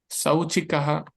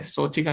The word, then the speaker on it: शौचिकः: हैं, नकुलः भूत बिलाव, शौचिकः शौचिकः किसको, शौचिकः होगा, ठीक है, शौचिका नहीं होगा, हमने पढ़ा था ना उच्चारण इसका, अ और ओ को मिलके ये बना है शौचिकः।